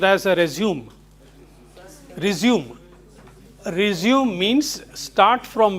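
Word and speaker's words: résumé: Resume is to continue from where you left. That is one word. But with slash here and here, because this is a French word, it is pronounced as resume.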